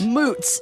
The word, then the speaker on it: moots: say that again please moots m o o TS moots well it sounds like boots I'm just trying to think it rhymes with boots yeah uh but then